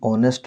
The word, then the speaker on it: honest: इसी टाइप का हम यदि ऑनेस्ट लिखते हैं, HONEST, ऑनेस्ट, ऑनेस्ट का आगे क्या यदि यूज करेंगे ANN में तो एन लगेगा। क्यों? क्योंकि ऑनेस्ट में उच्चारण ऑनेस्ट ओ साउंड है और जो वोवेल साउंड